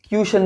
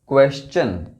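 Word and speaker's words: question: है ये quality क्वेश्चन क्वेश्चन कई लोग इसको क्वेन भी पढ़ते हैं जो कि गलत है यह वर्ड है क्वेश्चन quick quantity quake quilt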